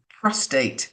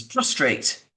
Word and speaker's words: prostate: dyslexia um but he he would refer to prostate as prostrate for example how many people do